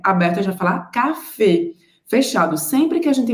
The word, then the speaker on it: café: pronúncia desse acento agudo cafê dejun a gente observa que o acento agudo no francês diferente do português tem o som fechado então a gente não vai falar café aberto a gente vai